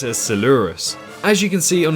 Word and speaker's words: Coelurus: this dinosaur is called sielurus i believe i'm pronouncing it correctly do correct me if i am wrong but i assume it's similar to celophysis so i'm going to pronounce it as seleurus as you can see